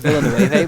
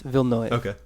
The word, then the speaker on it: Villeneuve: would like because nueve yeah i always said villanova but i looked up the i looked up the pronunciation and it's vilnius yeah uh and so david vilnov uh will direct it he directed sicario and